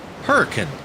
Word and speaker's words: Hurricane: We have a town in southern Utah called Hurricane. Spelled the same, but it's pronounced Hurricane.